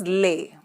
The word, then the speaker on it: les: with an S Lika here the pronunciation is leh okay I think I